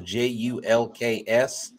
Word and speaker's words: Julks: It's spelled like it sounds, Julks.